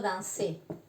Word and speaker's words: danser: Je danse viene del verbo danser. La R no se pronuncia al final. Y acá es como si tuviera un acento, ¿de acuerdo?